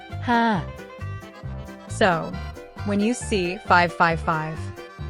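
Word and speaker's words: ห้า: Hey everyone, did you know that numbers can have different meanings in different cultures? Why 555 makes Thai people laugh. In Thai, the number 5 is pronounced ha.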